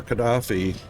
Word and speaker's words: Gaddafi: I should have said it right. It's Muammar Gaddafi, not Gaddafi.